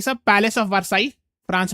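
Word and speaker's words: Versailles: ये सब palace of वर्साई France में जगह है। जहां पे डबल एल होता है उसको प्रोनाउंस नहीं करते हैं ना। वारसाई आपने सुना होगा ट्रीटी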